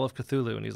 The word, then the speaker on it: Cthulhu: It's like, and his instructions for pronouncing it are like super weird. There's supposed to be sounds that don't fit in a human mouth.